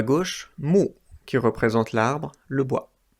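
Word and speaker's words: 木: En haut à gauche, mu, qui représente l'arbre, le bois. En haut à droite, une autre clé qui se prononce aussi mu, et qui veut dire œil.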